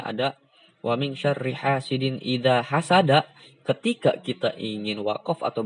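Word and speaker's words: إِذَا حَسَدَ: Wa min syarri hasidin idza hasad. Bukan idza hasada. Ketika berhenti, kalau ada yang baca idza hasada itu salah.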